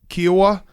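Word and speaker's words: Kiawah: He said, imagine telling yourself after the, I don't know how to say the South Carolina one, Jake. Kiowa? Mm-hmm.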